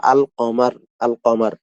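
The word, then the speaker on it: القمر: যেটার সাথে কি আল আসলেও আলের মতো উচ্চারণ হবে, শব্দটা শব্দের মতো থাকবে।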